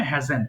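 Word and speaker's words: hasn't: আছে আপু এটা হবে হ্যাভেন্ট এবং এটা হবে হ্যাজেন্ট সিম্পল এখানে কোন কষ্ট করার দরকার নেই হ্যাভেন্ট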